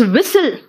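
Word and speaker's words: whistle: जरा देखो T silent है कहां कहां, इट्स विसल, विसल है, विस्टल नहीं है बेटा, देखो विसल है।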